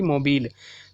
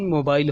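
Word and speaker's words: mobile: इसकी प्रोनाउंसिएशन होगी मोबिल, ना कि इसकी प्रोनाउंसिएशन मोबाइल होगी।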